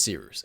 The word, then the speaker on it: Cyrus: My name is See Rooster. It's spelled like Cyrus, pronounced like Sea Rooster, just take out the ter.